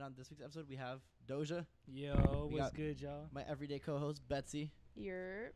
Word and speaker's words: Dosia: you do hi I'm dosha well I'm nice to meet you you can call me dosha it's spelled do si a like don't oversleep in